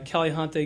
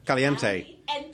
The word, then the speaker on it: Caliente: And some of the restaurants that we're going to have are going to be Caliente Grill. They're great. All right, how do I pronounce it? Caliente. Caliente. All right.